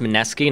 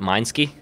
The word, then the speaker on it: Mineski: on last year was held at wait was pronounced mineski not Minsky yes did you actually think it was M